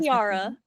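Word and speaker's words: Tierra: saying it wrong too because it sounds like the word Tiara but it's Tiara like Earth like Ang Earth gotcha gotcha I would agre say Tiara because she makes old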